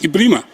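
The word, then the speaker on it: Ebrima: Ibrahima, that we spell E-B-R-I-M-A, he pronounced Ibrima, and he's correct. Ibrima, yes. Is that Ibrahima? If we are honest to ourselves, it's Ibrima.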